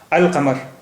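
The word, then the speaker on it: القمر: माने चांद यानी moon अल कमर the moon यहां पर लाम साइलेंट नहीं है और का का साउंड भी डबल नहीं हुआ सिंगल ही है अल कमर इसी तरह बाब बाब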